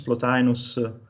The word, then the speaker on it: Plotinus: Plotinus, Plotinus?